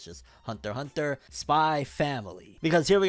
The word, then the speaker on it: Hunter x Hunter: people said it's like hunter hunter where the x is silent it's not hunter x hunter it's just hunter hunter spy family because here